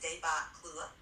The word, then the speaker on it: debacle: The word Lewis is using here, debacle, pronounced débâcle, refers to a sudden and complete failure or collapse.